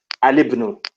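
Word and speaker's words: الابن: because it's hamzatul wasl, it's actually pronounced al-ismu and al-ibnu. Al-ismu, al-ibnu. It's like the lam, the alif lam actually has a kasra.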